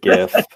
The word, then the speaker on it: GIF: Hard G all the way, GIF.